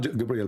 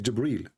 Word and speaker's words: Jibril: here he arrived gabriel it's not gabriel by the way it's jibril even muhammad he got the